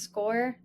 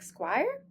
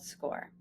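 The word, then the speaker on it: Scoir: It is pronounced score like you score a goal. Although many of you likely say something like squire and your child may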